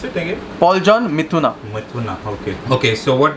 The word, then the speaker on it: Mithuna: How do you pronounce it again? Paul John Mithuna.